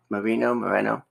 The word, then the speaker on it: Moreno: Moreno. Okay, like Rita. Like Rita.